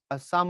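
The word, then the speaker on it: Psalm: Henry ওরসাদ long ফেলোর সাম of life এটা কিন্তু পের উচ্চারণ হবে না এখানে সাইলেন্ট হবে সাম অফ লাইফ এই কবিতার ভাবানুবাদ এবং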